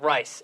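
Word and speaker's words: Rhys: And Rice has the or Reese, whatever however you say his name. It's R-Y. Yeah, Reese.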